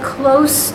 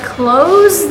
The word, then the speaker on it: close: differently i am standing close to the door the s sounds like i am close to the door if i close the door what happens to that s it becomes a z does the spelling change